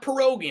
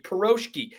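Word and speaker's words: piroshky: surprisingly also side note Seattle perosis not perogi I'm not mispronouncing perogi peroski it's this kind of fried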